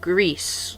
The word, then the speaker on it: Gris: be reviewing to you grist for the Nintendo switch Ashley it's pronounced grease like the Spanish word for grey but I'm an American